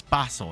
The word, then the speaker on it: basil: talking about it and she used the word basil and he was like no it's Basel and and she was